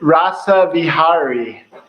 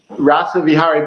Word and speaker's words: Rasa Vihari: it in uh so this in rasa vihari rasa vihari but you can just call me rasa for